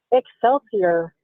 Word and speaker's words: Excelsior: Excelsier. Excelsier. Do people say excelsure a lot?